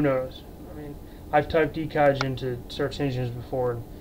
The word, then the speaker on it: Ekaj: But how mine's pronounced is, it's purely E and then K-A-J as Kaj. Sort of like the Lige, you know, in the name Elijah.